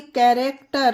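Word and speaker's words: character: गया उसी तरह से कैरेक्टर अब देखिए यहां पर तो सी वर्ल्ड के स्टार्टिंग में ही है फिर भी एच नहीं पढ़ा गया है एच यहां पर साइलेंट है तो हर एक वर्ल्ड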